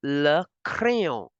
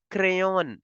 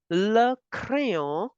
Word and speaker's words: le crayon: Don't pronounce it like English. It is not crayon in French. Crayon in English, in French, we have to make the sound of O because ON is there. So, le crayon for the pencil, and you